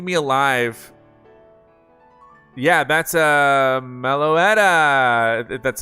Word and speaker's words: Meloetta: Yeah, that's a Meloetta.